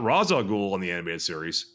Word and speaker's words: Ra's al Ghul: And Talia's like, actually, my father's name is pronounced Ra's al Ghul, but many uneducated people make that mistake.